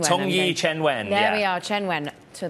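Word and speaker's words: Qianwen: We know that the large language model dubbed, well, I'm going to butcher the name, I'm afraid, but Tongyi Qinwen. Tongyi Chenwen.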